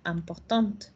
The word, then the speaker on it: important: Porque en el masculino no digo la T, me queda hasta la A nasal. Y en el femenino, al ponerle una E, el sonido se recorre. Ahora sí digo la T, pero ya no digo la E. Entonces sería important.